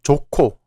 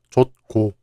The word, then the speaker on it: 좋고: The final 히읗 is followed by 기역, so 기역 becomes 키읔, and is pronounced 좋고, not 좋고.